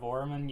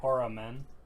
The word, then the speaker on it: Orman: So instead of oramin, you'd go or a man.